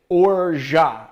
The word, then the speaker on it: orgeat: You say orgeat, and you don't pronounce the T. It's a French word, so it's orgeat.